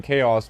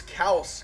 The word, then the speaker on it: K-Aus: No, I thought it was K-Aus because obviously so I was like, okay, K-Aus.